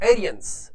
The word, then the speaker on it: Aryans: एक प्रश्न जैसे द एरियस ये थोड़ा उच्चारण थोड़ा अलग तरह से है द आरियन भी बोल सकते हैं द एरियस भी